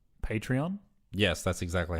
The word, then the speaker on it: Patreon: We have recently set up, I believe it's pronounced Patreon.